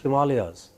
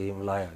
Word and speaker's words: Himalaya: tahe and you know the great himalayas they are pronounced as himalaya i feel like killing them when they say him liar you know or ganga